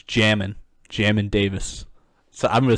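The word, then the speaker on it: Jamin Davis: uh jamin yeah jamin yeah no it's jammin jammin davis so i'm gonna say it like that i'm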